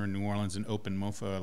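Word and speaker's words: MoPho: haven't talked to about one is called mofo which is spelled n o P H o the foe there refers to the Vietnamese soup and this is a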